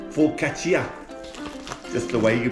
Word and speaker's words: focaccia: but it's focaccia. Just the way you pronounce it.